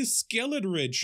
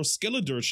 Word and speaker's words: Skeledirge: Yo, no, it's the Skeledridge or Skeledirge, however you want to pronounce it.